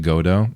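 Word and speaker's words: Godot: It's pronounced like Godo.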